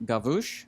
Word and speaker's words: Gavush: Nick Gavush, I think is how you say it. Yes, he said it rhymes like the bush.